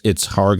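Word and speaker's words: Kharg: So just for our listeners, in Hebrew, it's Harg Island, as Nadav is pronouncing it. In English, it's Karg Island.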